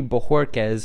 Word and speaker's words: Bojorquez: Since 2013, when Allen got the starting job, we will see competition at the punter position with Corey Bojorquez, who I did not know the name of